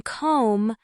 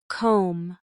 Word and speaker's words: comb: In comb, the B is silent, but your lips close slightly at the end. Try these slowly. No, comb, honest, island.